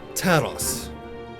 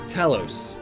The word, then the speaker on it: Talos: moment of pure eureka taros or talos depending on how you want to pronounce it it's an automaton that